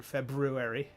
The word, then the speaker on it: February: And yes, I pronounce that first R in February because, you got to.